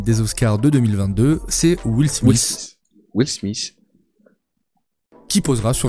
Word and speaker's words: Will Smith: C'est TH, c'est Will Smith. Will Smith. Regarde. Smith. Et non Smith. Will Smith. Cérémonie des Oscars de 2022, c'est Will Smith.